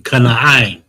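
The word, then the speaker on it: כנען: But yeah, Canaan, Kana'ain, Ka, the Na, and the all right are standalone syllables. The I and the Na. Share this screen it back. The I and the Na are connected. Kana'ain. Ka-na-ain. Okay?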